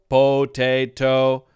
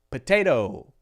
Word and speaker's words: potato: on it so which one sounds more natural potato or potato potato potato potato potato potato potato potato potato that